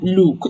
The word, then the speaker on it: look: So it is pronounced look. Look at me, not lu. If you can observe my lips, I didn't say oo.